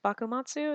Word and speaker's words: Bakumatsu: I think Bakumatsu is how you say it.